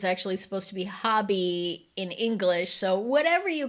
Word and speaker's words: Hobbii: Hobby, there's a whole video on how it's pronounced, which is kind of comical to me. I say Hobie because when I watch that video, the Danish accent for hobby sounds a little bit more like Hobie, but I think it's